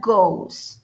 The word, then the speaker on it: goes: es muy bien Milton se escribe goes pero se pronuncia gos listo gos y lo